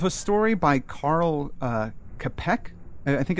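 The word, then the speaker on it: Čapek: you heard of a story by Carl uh capek I think it's pronounced called War of the noes no well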